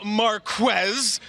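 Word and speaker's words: Marquez: that mean Marquess Valdez scantling he stuck the pronunciation it is Marquess he came on the show and told us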